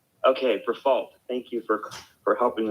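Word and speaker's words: Briffault: it's actually for false you don't have to give it a french pronunciation okay for fault thank you for for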